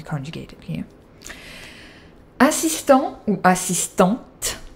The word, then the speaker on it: assistante: Assistant ou assistante, just have an e, that makes you pronounce the t for if the subject is feminine, so un assistant, une assistante, comme en anglais, assistant.